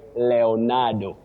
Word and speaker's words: Leonardo: But for that name which has German origin, the name with a German origin, you say Leonardo. Leonardo, not Leonardo, no.